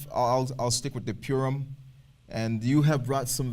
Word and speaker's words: Purim: the topic of purum some people pronounce as porum porum however I I tend to pronounce it as as purum because it's just it comes to my uh I guess vocabulary a lot easier for me uh depending on on